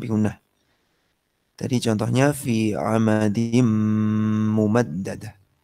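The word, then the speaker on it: عمد ممددة: Tadi contohnya fi amadim mumaddadah. Tanwinnya hilang, masuk ke mim di depannya, kemudian habis masuk didengungkan. Nggak boleh begini, amadim mumaddadah, salah. Karena cuma masuk aja, dengungnya nggak ada. Dia harus amadim mumaddadah.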